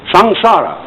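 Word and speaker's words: samsara: sanskrit s a m s a r a sangsara it's pronounced and although sangsara is represented in uh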